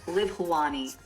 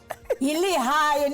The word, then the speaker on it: Lehae: Enkosinging Shosho Ebisinayo, Kubekani Nokubukela, ISABC, Livawani. Is that okay? Lihaye, not Livawani. Lihaye.